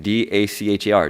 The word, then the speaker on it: Dacher: And one of them is a psychologist named, I don't know how to pronounce his name, D-A-C-H-E-R, Dacher, Keltner.